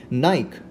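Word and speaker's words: Nike: अब देखिए इसे दो तरीके से प्रोनाउंस किया जाता है, यूरोपियन स्टाइल में देखें तो नाइक प्रोनाउंस करते हैं और अगर हम अमेरिकन स्टाइल में देखें तो नाइकी प्रोनाउंस किया जाता है।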